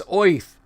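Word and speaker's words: Oerth: is called earth o-e-r-t-h some people have said gary pronounced it with like a city slicker you know like midwestern chicago or or cleveland or even a brooklyn accent oif it's oith i always said to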